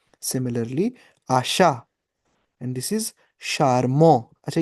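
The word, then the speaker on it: charmant: And this is शारमो।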